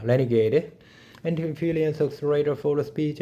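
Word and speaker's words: RNGD: as you didn't choose the furiosa RNG pronounced a renegade and confilience accelerator for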